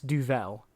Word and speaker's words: Duvel: So no, that's called Duvel. That's I'm pretty sure it's Duvel. Vel or L? Duvel. Vel. Yes.